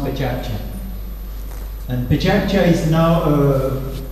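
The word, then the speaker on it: PechaKucha: In Japan, when you heard Pechakcha, Pechakcha, Pechakcha, so it's written Pechakusha and it's pronounced Pechakcha.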